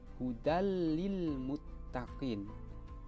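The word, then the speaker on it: هُدًى لِلْمُتَّقِينَ: pada kata Budal lilmutaqin cara membacanya itu memasukkan tanwin ke dalam lam tetapi tanpa dengan hudallilmuttaqin itu hudallilmuttaqin kita tidak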